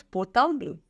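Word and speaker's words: portable: एंड the word is पोर्टाब्लो।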